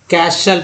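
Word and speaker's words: castle: है तो टी जो है साइलेंट हो गया, उच्चारण होगा बसल, क्या पढ़ेंगे, बसल। नेक्स्ट है कैशल पढ़ेंगे, टी चूँकि एल के टी के बाद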